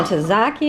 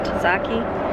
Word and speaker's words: tzatziki: The tzatziki, or tzatziki, that's how you say it, tzatziki dressing, so, so good.